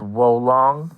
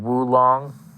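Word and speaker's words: Wo Long: Now, Team Ninja and Koei Tecmo, they showed off a new game called Wolong, I believe it's how it's pronounced, or Wulong.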